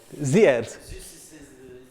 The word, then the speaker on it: Xerxes: Is it Xerxes? How do you pronounce it? Any Greeks in the? Ziers.